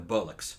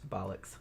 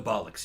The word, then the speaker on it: bollocks: bollocks the bollocks yeah she she can pronounce it better than I can't I call it a bullock I don't give a no there's an o it's not a you so anyway um we